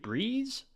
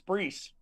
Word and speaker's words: Breese: Is it Breeze or Breese? The S, it's Breese.